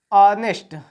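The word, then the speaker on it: honest: क्यों लगता है, पढ़ा क्या जाता है, ऑनेस्ट, आ का क्या, ए हुआ, ए आया तो किस में हो गया, एन हो गया, ठीक ना।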